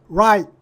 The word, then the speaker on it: right: 건데 어떻게 발음하는 거냐면요 아하고 아로 시작해서 이로 그냥이 발음하다 많은 거거든요 살짝 줄이는 거예요 한번에 아 이렇게 발음하는 거거든요 아이가 아니고요 그러면 발음 교상 지금 이걸 이름 절로 발음해야 되니까 right 하고 끝나야 돼요 right 이렇게 발음하는데 우리가 이거 공부할 때 right 레트 이렇게 하면 3음절로 발음했던 거거든요 그니까 잘알 외국도 잘